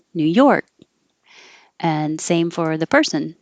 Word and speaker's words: New York: lips too much rural New York this dress is on the second part New York and same for the